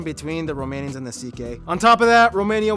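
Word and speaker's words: Székely: then we get to the ck people the second most populous minority yes that's how you pronounce it ck basically cousins of the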